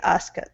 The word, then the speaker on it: asked: Now that last word here is pronounced asked. Instead of asked, asked, with the T sound at the end. Okay. Okay, give me a T at the very end.